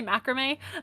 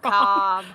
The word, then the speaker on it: macabre: How do you pronounce Macabre. macabre? I always want to say macrame. It's That's wrong. macabre.